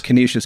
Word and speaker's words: Canisius: You went to, is it pronounced Canisius? Canisius College, yeah.